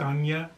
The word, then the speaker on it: Ajna: Now the third eye in the chakra system is the Ajna chakra, or sometimes pronounced Anya chakra, and its place of